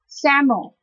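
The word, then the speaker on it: psammo: we use this prefix saml PS m m o the P the first letter P is not being pronounced so it's pronounced as Sam our example is Sam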